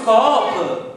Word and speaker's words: scoop: Ma, Bimbi, questo è uno scoop. Ma che scoop? Si dice scoop? No, allora, in inglese sono ferratissimo. È scritto S-C-O-O-P, si legge scoop.